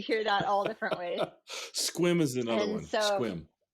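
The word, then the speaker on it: Sequim: And you can tell who's local by the way they pronounce Puyallup, right? And so you hear that all different ways. Squim is another one. Squim.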